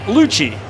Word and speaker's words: Luce: And the count level on Jake Lucci, who spells his last name like Luce, L-U-C-E, but pronounces it Lucci.